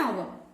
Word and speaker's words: hour: An hour. Here also, the beginning letter is a consonant letter H. But it is silent.